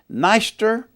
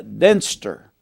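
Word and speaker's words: Dniester: of the river the you might pronounce it neister or uh denser d-n-e-i-s-t-e-r a river that's in russia the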